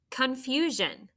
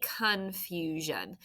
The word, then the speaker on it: confusion: syllables confusion say it confusion very good so the first one almost con we say confusion but it's kind of a little bit of a schwa there if you need to